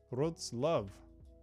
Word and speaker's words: Wrocław: Poland, Wrocław. Wrocław. Is that how you say that, Camille? I can never get it quite right. Wrocław. Wrocław. Wrocław. Is it like a love at the end?